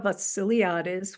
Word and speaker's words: Vassiliadis: My name is Vassiliadis, which kind of rhymes with the silly artist.